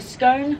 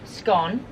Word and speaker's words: scone: I'm just here right the scone scone rhyme with gone or bone bone or gone sorry oh I understand is it scone gone or is it scone that rhymes with bone that's gone Stone it's gone for me it depends who I'm with what sentence is coming out on yeah I literally say both I also like it when